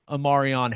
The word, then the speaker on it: E'Marion: Sooners land Arkansas offensive line transfer, E'Marion Harris, and that is E'Marion is how it is spelled out in their pronunciation guide.